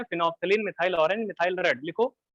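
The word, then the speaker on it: phenolphthalein: लिखो ऐसे, फिनोप्थलीन, फिनोल्फथलीन, PHENOL, phenol, फिर PHTH, फिनोप्थलीन बोलते हैं उसको ना, साइलेंट होता है उसमें, फिनोप्थलीन, फिर कॉमा करके methyl orange and methyl red.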